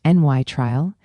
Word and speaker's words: nitrile: A nitrile, pronounced n y trial, has carbon triple bonded to nitrogen.